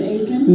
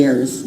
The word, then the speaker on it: Ayers: Mary Ayers Aiken? No, it's Mary Ayers.